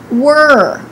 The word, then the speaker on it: were: Don't roll your tongue. Don't say war. It's not R. It's er. Create the American R in the back of your mouth. Don't let the tip of your tongue touch in the front behind your upper teeth. Repeat again. Were. Also, be careful with the W. The W requires your lips to be rounded a little bit.